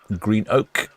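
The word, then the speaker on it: Greenock: Up to Scotland for Green Oak as the Scottish people like to pronounce it.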